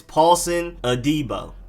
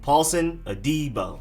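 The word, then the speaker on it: Paulson Adebo: tommy togiya then cornerback paulson adibo not adebo adibo a d-bar whatever it's paulson adibo emphasis on the d part uh paulson adibo then next up you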